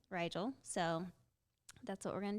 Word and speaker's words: Rigel: So the first time I saw it, I said Rigel. Yeah, we were like, oh, Rigel. Like, how do you pronounce this?